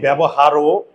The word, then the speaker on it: ব্যবহার: আমরা কি বলি ব্যবহারও, আমরা বলি র, কিন্তু এখানে বলি ব্যবহার। এখানে কিন্তু অয়ের উচ্চারণটা হয় নাই। বুঝতে গিয়ে পারলে এখানে অয়ের উচ্চারণ হয় নাই।